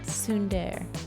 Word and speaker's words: Tsundere: How do you pronounce it, though? Tsundere.